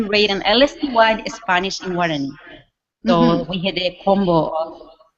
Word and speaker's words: Guaraní: It shows Bible stories in Spanish, and I'm not quite sure how to pronounce it. Yeah, Guaraní.